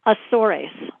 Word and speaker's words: Azores: or Azores it's actually if you pronounce it in Portuguese it's asaurus ah wow so it's